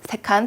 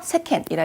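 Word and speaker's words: 世間: 혹시라도 세간이라고 해서 우리 A처럼 세칸 발음 비상과하시면 안 되고요. 네, 세상이나 세간을 세켄 하시면 되겠습니다.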